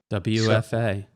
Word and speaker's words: WFA: WFA. So, WFA, that's right. Rhymes with 2FA.